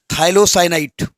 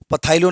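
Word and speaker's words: phthalocyanine: थाइलोसाइनाइड, PTHA होता है, पथाइलो नहीं होता है, PTHALOCYNID, PTHALOCYNID, थाइलोसाइनाइड।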